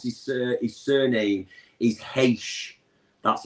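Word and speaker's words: Reis: So I got told you pronounce his surname is Heish. That's how you pronounce his surname. So it's called Vitor Heish. Yeah, even though it's not spelled like that.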